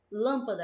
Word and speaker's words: lâmpada: lâmpada xícara helicóptero certo lâmpada a gente fala lâmpada lâmpada ou lâmpada que puxa mais a gente percebe que é Alan que é a antepenúltima sílaba né olha o caso